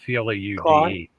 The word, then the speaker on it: Claude: Look, say it the way it's spelled. C-L-A-U-D-E. Claude.